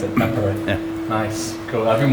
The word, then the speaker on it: Tampere: So that's how you pronounce it, Tampere.